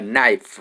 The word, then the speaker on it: knife: consonant sound so but the word knife itself k is silent okay 41 an idea